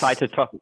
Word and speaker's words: cytotoxic: do you say that i'm sorry this is cytotoxic cytotoxic okay so those cells go and kill